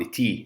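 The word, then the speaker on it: ϯ: حرف التي ده حرف مركب بننطقه ت ويه مع بعض، تي زي ما هو كده، غير الطاف اللي خدناه قبل كده.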